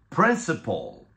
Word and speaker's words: principal: tengo que decir es que ambas son homófonas Qué quiere decir esto que aunque se escriban diferente la pronunciación es igual Entonces vamos a decir principal principal princip principle Okay vamos con esta primera